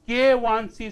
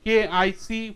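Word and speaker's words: KIc: mode one fracture toughness k1c stands for critical stress intensity factor under mode one loading K1 C often the students pronounce it k I which is wrong k1c stands for critical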